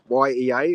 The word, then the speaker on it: Yea: YEA is, but you pronounce it Yea.